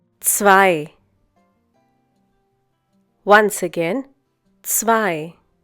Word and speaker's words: zwei: Zwei. Once again, zwei. The German consonant Z is pronounced like the English TS sound that is found at the end of words such as mats, pots, bits.